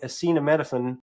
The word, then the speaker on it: acetaminophen: Other research found that the pain from rejection is so similar to what we feel from physical pain that taking acetaminophen, that's how you say it, whatever Tylenol is,